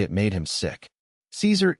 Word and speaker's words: Caesar: "Caesar equals Kaiser," Tietjens said.